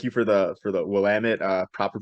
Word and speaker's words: Willamette: our schedule and they look at you mentioned Willamette before from Oregon or the women is is actually how you say it from